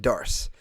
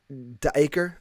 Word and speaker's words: Dacre: Uh It It's His name is Dacre Montgomery, but it's not said Dacre. It's um Daker or something like that.